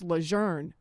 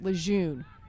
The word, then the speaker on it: Lejeune: World War II veteran George Burroughs remembers his drill instructors in boot camp telling him it's Leger.